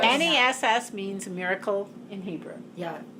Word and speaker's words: Nes: Yeah, it sounds N-E-S. funny now. Ness means miracle in Hebrew. Yeah. N-E-S, just one. Oh, S. just Her name's Nes.